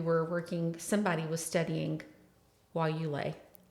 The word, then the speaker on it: guayule: say that we were working somebody was studying while you lay.